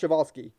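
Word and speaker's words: Przewalski: has saved many species including California condors and chevalsky's horse and trust me I know it looks weird but it's pronounced chavalsky I checked like multiple multiple multiple times all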